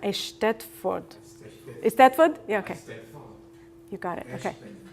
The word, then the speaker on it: Eisteddfod: And I'm not sure how to pronounce Eisteddfod. Eisteddfod?